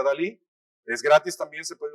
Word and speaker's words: DALL-E: Se pronuncia DALL-E.